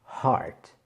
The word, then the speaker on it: heart: Heart.